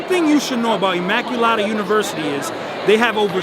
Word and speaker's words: Immaculata: you can go to Immaculata and do not pronounce it wrong because it is Immaculata universe we are here in front New York